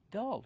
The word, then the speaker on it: dull: do we pronounce dull dull use the short a sound like cup and up d d dull plus the dark L dull the dark L